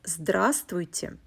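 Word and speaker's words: здравствуйте: russian formal greeting is drasti hello notice that the fifth letter the consonant vo is silent when you pronounce this word also i will mention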